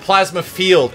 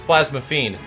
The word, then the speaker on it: Plasma Fiend: is not plasma fiend my name is not plasma field it's plasma fiend you have said it